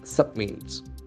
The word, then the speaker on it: submit: sentence filed state government submits is you b m i t when you submit what happens a verb submit submit that's enforce on the second syllable submit submit to give